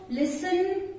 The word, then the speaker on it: listen: Words are given where T is silent. In words के pronunciation में T silent रहता है. So the words are like castle, depot, listen, often, fasten, bristle, kitchen, Christmas, rustle.